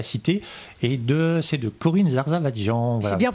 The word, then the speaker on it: Zarzavatdjian: Aux éditions Les Presses de la Cité, et c'est de Corinne Zarzavadjian. Voilà. C'est bien prononcé en plus.